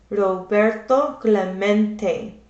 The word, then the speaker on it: Roberto Clemente: heard the announcer stumble through his Spanish name, Robert, Clemente. It echoed in the nearby stands, near empty stands. Roberto Clemente was his name, and this is pronounced Roberto Clemente.